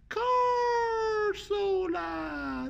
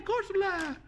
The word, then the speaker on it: Corsola: Corsola. That's how you say it. Yeah, Corsola.